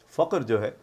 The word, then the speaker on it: فخر: استعمال کر رہے ہیں وہ فخر جو ہے وہ اصل میں فخر لفظ نہیں ہے، وہ غلط العام ہے۔ فخر جو ہے وہ صحیح تلفظ ہے۔ تو اب آپ